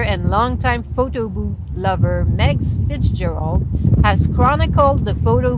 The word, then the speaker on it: Meags: Photo Booth, a biography by Megs Fitzgerald. Megs is spelled M-E-A-G-S Fitzgerald.